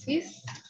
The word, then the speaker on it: six: Spelled just the same as in English, but pronounced six.